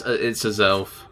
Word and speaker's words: Azelf: I never know how to pronounce it properly. Yeah, it's Azelf.